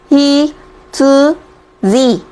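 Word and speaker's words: 羊: là con cừu và nó sẽ đọc là gì ạ? Hi tsu ji. Ok chưa? Đó. Và ngoài ra thì nó có thể đọc là yo khi nó ghép với các từ vựng kanji hoặc là hiragana còn lại.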